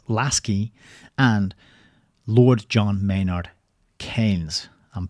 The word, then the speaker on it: Keynes: and Lord John Maynard Keynes. I'm pronouncing his name correctly because I learned how to pronounce it from the book. Keynes. It rhymes with brains.